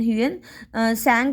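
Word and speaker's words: Hiuen Tsang: आई यू ई एन यूएन संग बोलेंगे इसको टी इसका तो संग या टी साइलेंट क्योंकि नेम की प्रन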